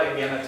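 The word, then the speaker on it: ἐγένετο: You don't have to write all that down, but just write eganetah down. It's an interesting word. It comes up a Pronounce it lot.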